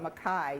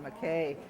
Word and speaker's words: Mackay: It's spelled K-A-Y, but I've been told by a Scots person that you call it Mackay, you don't call it Mackay.